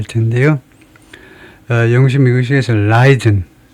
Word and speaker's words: Leiden: 영어식 미국식에서 라이든, 리든이 아니고 라이든이라고 발음하면 되겠네요. 라이든. 첫 음절에 액센트를 두고 두 번째는 약하게라는 말은 거의 모음 소리가 안 들릴 정도로 약하게, 무지무지하게 약하게 대원칙입니다.